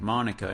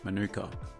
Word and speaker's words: Manuka: native to Australia but for some reason it's pronounced Monica in this instance not Manuka maybe I've just been pronouncing the honey variety